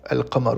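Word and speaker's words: القمر: Pour les mots lunaires comme le mot alqamar la lune et bien on va venir prononcer entièrement l'article défini al.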